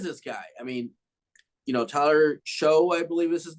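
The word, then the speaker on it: Shough: Yeah, Tyler Shuck, I think is kind of how you pronounce that. It is a tough last name.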